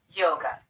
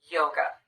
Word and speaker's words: yoga: or the uh sound same thing happens with the word yoga the second syllable is unstressed we replace the letter A with the unstressed vowel the uh sound and we get away from that syllable as quickly as we can yoga yoga in my